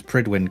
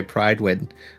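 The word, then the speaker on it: Prydwen: But also because they can't pronounce Pridwin correctly, and I'm in the King Arthur zone, and every time they say Pridewin, I wanna rip someone's head off.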